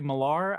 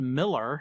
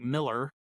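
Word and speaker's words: Millar: that it is pronounced Miller, so it it more like Miller, but the A has more of an E sound.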